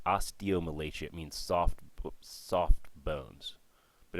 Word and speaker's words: osteomalacia: So underneath, and it's pronounced osteomalacia.